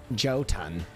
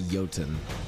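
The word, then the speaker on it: Jötunn: joke ton we defeated they said i wouldn't be able to pronounce it right and so i'm like okay that means it's like jotan jeten and i'm like all right it's definitely yotan i knew that that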